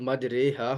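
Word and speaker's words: مجريها: کر پڑھا جاتا ہے۔ مجریہا کا تلفظ مجریہا ہوگا، یعنی اس سے اردو لفظ، جیسے ہم قطرے بولتے ہیں، ڈراپس کو قطرے بولتے ہیں، تو اس سے اردو لفظ قطرے کی را کی طرح، جیسے جب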